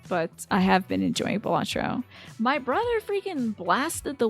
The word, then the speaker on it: Balatro: a for batro yeah it's like pronounced batro I'm going to say batro you still haven't figured